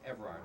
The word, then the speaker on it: Evrard: we have Dina Haas, Shannon Williams, and Evrard. Is that correct pronunciation? Evrard.